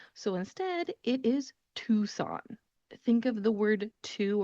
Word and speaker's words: Tucson: it should be pronounced Tucson. It is spelled Tucson. You would think Tucson, that seems like a very understandable pronunciation. However, the C in this word is not pronounced. So instead, it is Tucson.